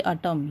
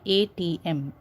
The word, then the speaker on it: ATM: You don't pronounce it as atom, okay? You say the words or the letters like ATM. You don't say atom, you say ATM.